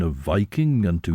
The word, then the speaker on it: Viking: here though he says as to the pronunciation the ordinary usage is justified by the derivation the i in Viking was long if our correspondent wishes is to get closer to the original pronunciation he should say vking well Shen Chris